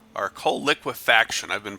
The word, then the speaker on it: coal liquefaction: forums this is a I think it's called Cola quitte fication our coal liquefaction I've been pronouncing that wrong the whole time the goal